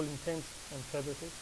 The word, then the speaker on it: intents and purposes: All intents and purposes is the proper way to say it.